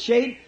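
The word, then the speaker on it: שד: The really, the word, the Hebrew word Shad, S-H-A-D, some pronounce it Shade.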